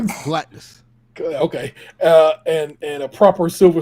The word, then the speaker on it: Galactus: And a proper Galactus. Did I pronounce that right? Correct. Galactus.